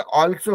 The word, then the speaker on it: also: Theory आ रहा है, ALSO, अल्सो नहीं होगा, ऑल्सो होता है। ALMOST ऑलमोस्ट नहीं होगा, ऑलमोस्ट होता है। तो AL वाला कॉम्बिनेशन है, that is pronounced एज ऑल, है ना।